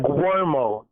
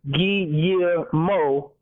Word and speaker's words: Guillermo: You pronounce it like like Guermo, Gwermo. If you think about it, a karate gi. If you add gi year like a year, gi year mo, you'll be saying it more correctly.